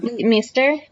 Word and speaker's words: Leighton Meester: Leighton Meester.